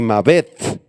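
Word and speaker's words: מָוֶת: La palabra griega y hebrea para muerte son las siguientes: Thanatos en griego, y Mavet con acento en la E y TH al final, Mavet en hebreo.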